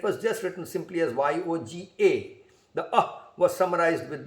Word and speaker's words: yoga: and all that so we learnt more about yoga from yogic yog from y o g a from the west so and then the pronunciation became yoga y-o-g-a yoga and now it is